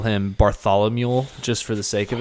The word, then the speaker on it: Bartholomew: Okay, let's start over. Bar. Thal. All right, now say Barthol. A mule. Ooh, a mule? Bartholomew. Yep. You're literally saying a mule. Yep, Bartholomew. Ooh, Bartholomew. Yep, there you go. Just say it like Barthol and then think, oh, a mule's over there.